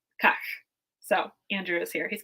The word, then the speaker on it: Kahk: to our research, was pronouncing this kind of like cake, like kahk, but and further back in your throat, right? Kahk.